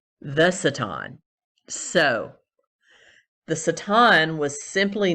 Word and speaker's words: Satan: personification known as satan though the actual pronunciation would be satin more appropriately in the ancient hebrew the satan so the satin was